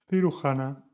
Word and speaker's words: cirujana: Dos, cirujana, suena como Juan.